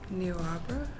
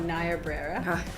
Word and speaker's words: Niobrara: Neo Opera? What's that? Neo Opera? I don't know how to say it. Oh, Niobrara.